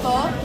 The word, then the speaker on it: pho: It's pronounced pho, right? Yeah, pho.